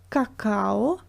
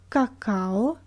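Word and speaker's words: какао: as all just because cacao is not a Russian word and usually when a word comes from another language these reading rules stay the same cacao cacao okay number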